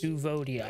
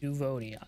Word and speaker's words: Duvodiad: You are a Devodiad from distant lands. Duvodiad, I'm that's how you not say it. sure what help you can be. Duvodiad, that's how you say it.